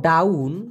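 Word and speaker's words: daun: জাতীয় গাছের পাতা সাধারণত ডাউন ডি এ ইউ এন উচ্চারণটা হবে ডাউন এই ডাউন মানে হলো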